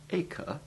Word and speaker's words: acre: The English land measure acre is pronounced to rhyme with baker, as also is the name of the ancient port of Acre in Palestine.